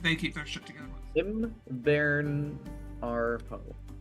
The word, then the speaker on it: Imvaernarhro: Varn, like the beginning of the word varnish, and then hero without the e.